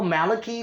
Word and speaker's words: Malachi: I'm not sure my name Malachi should be pronounced Malachi, Malachi, Malachi, or Malachi. I prefer Malachi, but my name's Malachi.